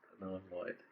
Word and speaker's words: NLLNVD: It's NLLNVD, pronounced null and void.